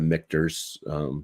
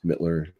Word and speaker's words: Michter's: I really do want to try the Michter's rye at some point. Mitchers, whatever the hell it is. Mittler. I don't know. You said it right the first time.